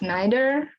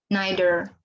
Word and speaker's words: neither: from america that's why i use neither opposite of neither but it's one of them are correct pronunciation so you don't have to worry too much about it neither not neither okay and he said